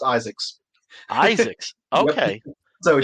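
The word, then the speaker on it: Izaakse: His name is pronounced Isaacs.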